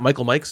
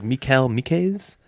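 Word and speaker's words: Michal Mikeš: Their names are actually Mikal Mikes with a line over the S in Meek and Mikes. Okay. So it's not Michael Mikes, it's like Mikal Mikes.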